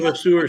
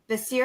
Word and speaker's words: Vasseur: And she's pretty Carlene Varseur, she's awesome. Vasir. Yeah. Pronounce it Vasir.